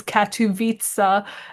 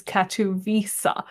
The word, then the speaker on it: Katowice: So the American one is Katowice, and the British pronunciation is Katowice.